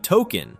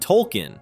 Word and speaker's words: Tolken: the subtitles now read Token, reflecting that Stan was mispronouncing it. In scenes where other characters say the name, the subtitles now read Tolken, reflecting that those characters were saying it correctly.